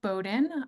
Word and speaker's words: Bowdoin: but it is pronounced Bowden just kind of pretend that there isn't an O there uh and that is